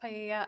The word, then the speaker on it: paella: be used to cook paella. I'm not sure if that's how you pronounce it at the party. It's pronounced paella.